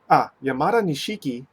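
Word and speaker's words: 山田錦: So, mild sake and rice aroma, creamy and slightly light taste, using king of sake rice, Yamadanishiki, Yamada na, Yamadanishiki, that's probably how you pronounce it, Yamadanishiki ale.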